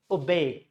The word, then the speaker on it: obey: It is two syllable. It is a verb, and in the verb, it should be stress should be here, and this o it would change into schwa sound. So that's how it is being pronounced. Schwa sound and B-E-Y. So it's called obey. It's not obey. It's obey.